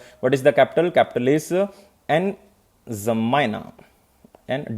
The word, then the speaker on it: N'Djamena: Capital is N'Djamena. And D is silent basically, or you can pronounce D. N'Djamena.